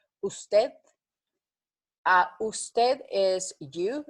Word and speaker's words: usted: Usted is USTED. Usted. So it's like TETH. Try to pronounce it like that. I will give you a pronunciation. OOS/TETH. Usted.